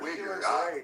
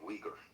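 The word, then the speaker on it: Uyghur: but it's like A wiger. Can someone explain to me what a wiger is? Sorry, I pronounce it wrong. Weaguer.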